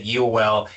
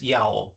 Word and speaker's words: Yeowell: I think I may have said Yell. It's just Yao.